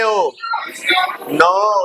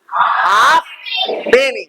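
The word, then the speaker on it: halfpenny: चलो ठीक है नेक्स्ट एफ एफ साइलेंट होता है पूरे इंग्लिश लैंग्वेज में एक ही वर्ड है ओनली वन वर्ड इ देयर मतलब इसी से रिलेटेड कोई वर्ड होगा हाफ पेनी व्ट इ दैट हाफ हैनी बोलो हाफ हाफ पेनी नहीं है हाफ पेनी नहीं है हानी हा हा हा पेनी हानी हानी क्लियर तो यही एक वर्ड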